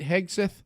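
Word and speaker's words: Hegseth: So, and how do you say his name? Hedgehog. Hexath. Was it Pete? Pete Hexith. Yes.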